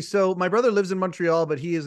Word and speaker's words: Montreal: that I always uh call it Montreal not Montreal but Montreal Montreal that's right and you just